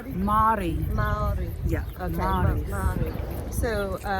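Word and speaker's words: Māori: So what is the correct pronunciation? Is it Maori? Like how do you? Maori. Maori.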